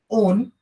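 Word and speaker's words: -one: यहाँ पे अपन suffix use करते हैं, जैसे कीटोन is ending with ओन, तो यहाँ पे सफिक्स होता है इसका ओन, ना कि वन।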